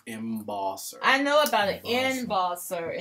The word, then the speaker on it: embosser: M wants to know Chuck what is an ebosser I'm sorry what is an ebosser that's the